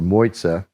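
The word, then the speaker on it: Mozia: There is a small secluded island that is protected, and it's pronounced M-O-Y-T-A in English or M-O-Z-I-A in Italian or Moiza as they pronounce it.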